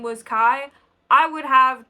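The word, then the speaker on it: Ky: knows, and that somebody else, his name is Kai, and it's spelled K-Y, because this is a science fiction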